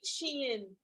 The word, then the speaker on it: Shein: I think it's Shine. I don't know how it is, but it is Shein.